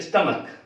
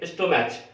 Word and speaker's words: stomach: और जैसे पेट है, पेट को हम बोलते हैं स्टमक, लिखते हैं स्टोमैच, STOMACH, लोग सोचते हैं CH लास्ट में, तो इसका जो लास्ट का जो उच्चारण होगा च होना चाहिए, स्टोमैच या स्टमैच बोल देते हैं लोग, लेकिन वो न स्टोमैच है न स्टमैच है, ये है स्टमक, स्टमक।